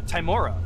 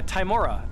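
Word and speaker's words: Tymora: so your statute actually is um is for worshiping uh timora which is the goddess of luck a [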